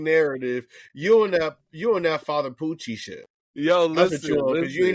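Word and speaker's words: Pucci: It's Poochie. It's Father Poochie.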